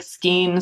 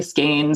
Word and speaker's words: skein: sky minder game reminder people pronounce skein different ways it's hard to say yeah yeah some people say like skeen some people say skein some people say skyne but uh i try